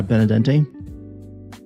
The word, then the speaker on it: Benadente: The last E is pronounced as an A. Benede and dente. Very cool. Very cool. Where are you stationed? Mhm. Yeah. Benadente.